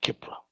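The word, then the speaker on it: Khepri: It's Kipra. Kipra. Look it up. Okay, Kipra. Spell it.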